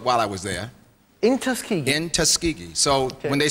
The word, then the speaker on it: Tuskegee: Tuskegee. Most people cannot pronounce it, but that's good.